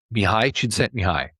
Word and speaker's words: Mihaly Csikszentmihalyi: or this Hungarian-American psychologist Mihaly Csikszentmihalyi. Really long name, lots of consonants in it, right? But that's how you pronounce it.